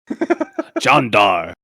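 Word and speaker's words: Jeanne d'Arc: Also, just just for Tomoe, it's pronounced Jean Dark. Sure. John Dar.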